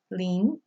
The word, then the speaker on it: Lin: In is always pronounced like the long E, like lean. Okay? My last name, Lin.